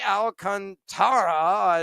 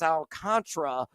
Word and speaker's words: Alcantara: He is going to fade the living daylights at a Sandy Alcantara is what he pronounces. It's Alcantra for those that may not be familiar with the actual pronunciation, but he likes the